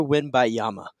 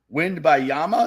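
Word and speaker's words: Wembanyama: shot Nick you're Victor win by Yama winner I wish there's another I think there's an X there's another syllable in there wind by Yama is that what you're saying okay uh well I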